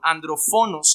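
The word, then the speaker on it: ἀνδροφόνος: la palabra asesino, que es la palabra andrófonos, perdón, andrófonos es la pronunciación más correcta, que es asesino en general.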